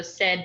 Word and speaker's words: Cyd: So Sid, but spelled with a C, and then G at the end.